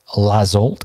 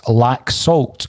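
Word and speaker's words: Laxalt: say kevin graham is correcting me on my pronunciation of lazzolt and he's saying that it's lack salt according to our spanish correspondent so we have signed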